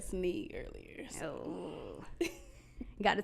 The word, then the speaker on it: Stasseny: So mine has 3 syllables. South Austin street is 2. Just to throw that out there. Yeah, you're like, let me put the facts. I think he said Stasseny earlier.